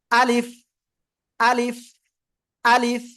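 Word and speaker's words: ألف: আমি যে আলিফ অক্ষর আলিফ অক্ষরে কোন টান হবে না এভাবে উচ্চারণ করবেন আলিফ আলিফ আলিফ ঠিক আছে সবাই একসাথে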